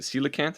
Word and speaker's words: coelacanth: And as I pulled this up on Google Images, one of the kind of suggested autofills after is it Coelacanth? Is how it's pronounced?